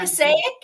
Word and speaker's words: Passaic: Passaic. Woo! Yes. Yes. Oh my gosh. Although you're pronouncing it, I think this is a pregnant bride hiding behind a big bouquet.